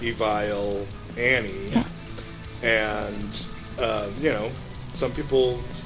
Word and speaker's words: Evile: with our name because we pronounce ourselves evil annie and you know some